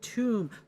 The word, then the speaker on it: Thumb: Thumb. Pronounced tomb. Tomb.